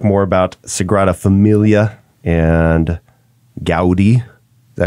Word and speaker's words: Gaudí: We're going to talk more about Sagrada Familia and Gaudí. Is that how you pronounce it? Gaudí.